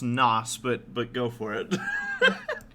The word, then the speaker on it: NOS: was it was the it's pronounced nos but but go for